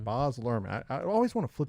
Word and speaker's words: Baz Luhrmann: Baz Luhrmann. Baz Luhrmann.